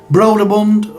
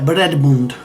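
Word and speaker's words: Brøderbund: it wrong all along it's not brolerbund or brother Bund it's a breadboard apparently maybe you can correct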